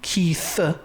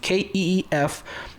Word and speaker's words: Keef: By the way, Keith, I'm not mispronouncing Keith. No, Keith, Keef, the Thief.